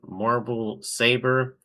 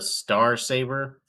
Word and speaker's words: Star Saber: Darkly potent vorpal saber they just say marble saber isn't it pronounced the star saber Prime problem Transformers Generation